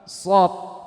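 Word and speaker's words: ص: Pengucapan huruf shad itu dengan 3 langkah yang benar. 1, meletakkan ujung lidah di pangkal gigi seri bawah. Itu yang pertama. Jadi ujung lidah itu Pak, kenakan dengan pangkal gigi seri bawah seperti ini. Kemudian apa? Pangkal lidah bagian belakang ditekan, dinaikkan. Itu yang kedua. Yang ketiga, alirkan angin dan suara satu arah di ujung lidah.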